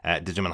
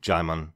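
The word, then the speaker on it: Djimon: hanso pronounces his name jimon just like Simon the D is silent so both of us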